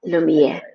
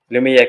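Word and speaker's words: Lumière: Lumier like the light. Lumier. Lumiere coaching and consulting.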